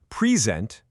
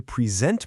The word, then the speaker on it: present: Take the word present. Same letters, right? But if I say present with the stress on the first syllable, I'm talking about a gift. But if I say I'm going to present my work with the stress on the second syllable, now it's a verb.